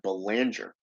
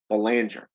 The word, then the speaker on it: Belanger: Belanger, was it? How do you pronounce that? Belanger. Yeah, that's the one. Belanger.